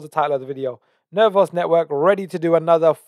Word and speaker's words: Nervos: I know you taught me how to pronounce it properly now. Nervos.